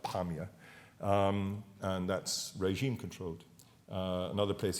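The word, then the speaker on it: Apamea: The place that we were shown earlier by Tim was Afamia, that's how the Arabs pronounce it, but Apamia, and that's regime-controlled.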